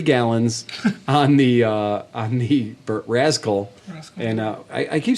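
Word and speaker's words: Razkull: So it's like skull, but with a Z.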